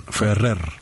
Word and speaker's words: Ferrer: I mean I mean we we we say ibraim F right yeah was more the r it's more strong fer okay he wouldn't mind